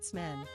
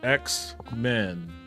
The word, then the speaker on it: X-Men: Smen? That's a Terrible pronunciation. At Ye Old Nerdcast said Smen. Oh, no. X-Men. Ye Old Nerdcast said X-Men. There you go. At Ye Old Nerdcast said X-Men. Not Smen.